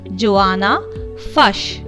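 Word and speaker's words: Joanna Fuchs: You have to see the pronunciation of the name of the poet, dear children. It is Joanna Fush.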